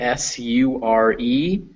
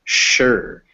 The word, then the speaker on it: sure: good however the word s-u-r-e is pronounced sure so it's written with an s but it's pronounced sure with an sh sound so you try saying